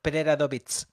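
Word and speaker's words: Preradović: llamaba eh Paula Fon Preradovic y bueno, pronunciado propiamente eh Preradoovit debería ser, ¿no? Nosotros decimos lo terminamos en che, pero pero no es así.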